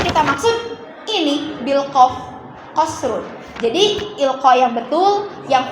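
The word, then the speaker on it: قَصْرٌ: Misalnya tadi mufrad yang kedua qasrun bil qaf aul kaf. Qasrun bil qaf aul kaf. Qaf. Kalian salah baca misalnya jadi kasrun, anak pun akan ikut salah nantinya dan beda arti lagi kan?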